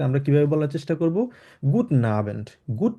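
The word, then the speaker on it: guten: and good না and good টেন normally জার্মানে বলে না তবে আপনি যদি গুড টেন বলেন কোন সমস্যা নাই সেটা পুরোপুরিভাবে কারেক্ট তবে উচ্চারণের দিক থেকে আমরা চেষ্টা করব একদম এক্সাক্টলি জার্মানে যেভাবে বলে 100% ওভাবে প্রোনাউন্সটা করার জন্য তাহলে আমরা কিভাবে বলবো গুডন ঠিক আছে গুডন ওকে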